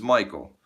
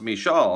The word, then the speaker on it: Michael: But I was working with a Scandinavian person who said, I didn't know your name was pronounced Michal. And I'm like, it's not, it's Michael.